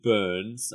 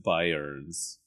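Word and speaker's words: Byrnes: Light here, played by Jim Burns. I think it's pronounced Burns. It's like Byerns. Oh, yeah.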